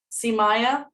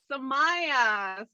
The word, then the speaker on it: Samaya: See Maya? Is that right? Again, a little bit of the emphasis. Okay. Wrong syllable. But yes, Samaya is one of them.